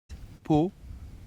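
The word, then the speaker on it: Pau: Po to po.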